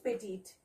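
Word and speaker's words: petite: Pronunciation is पेटीट, okay.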